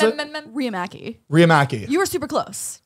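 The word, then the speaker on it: Riihimaki: like that how do you how do you pronounce it riyamaki you were super close Ria Maggie that's a really cool that's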